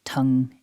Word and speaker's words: tongue: It begins with the t, then we've got the short vowel followed by the nasal ng.